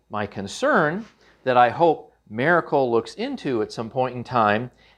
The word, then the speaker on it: Maircle: You kind of want to say Miracle, but that's not how it's spelled. It's Maircle.